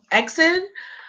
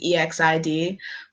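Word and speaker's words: EXID: say this you better drag me okay so exit somewhere in my heart I always know that then it's pronounced ex exi D but I've been calling them exit for so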